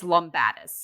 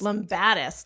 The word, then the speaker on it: Lumbatis: It's Lombadis. Lombadis.